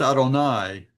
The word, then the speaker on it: Adonai: It's pronounced Adonai by respectful Jews, I guess you would say, respectful non- messianic Jews, but it is the sacred name of God uh that you're not supposed to take in vain. So in order not to take it in vain, they don't pronounce it at all. They substitute a different word, Adonai.